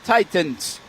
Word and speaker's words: Titans: can't pronounce the word Titans. You don't pronounce the second T.